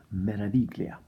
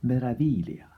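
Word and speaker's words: Meraviglia: the ship isn't called melody Clea the G is silent so thank you da for informing me that the proper pronunciation is Marathi Leah and a big thank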